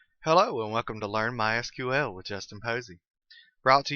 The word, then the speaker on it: MySQL: as you can tell I've been calling it MySQL that is the correct pronunciation however it is also commonly called my sequel if you hear it called that don't be